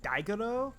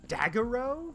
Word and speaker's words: Daiguro: pretty sure that would should be pronounced daiguro because it's d-a-i-g-o not daggerow but yeah it's it's